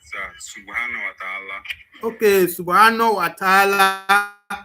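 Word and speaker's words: سبحانه وتعالى: Subhanahu wa ta'ala.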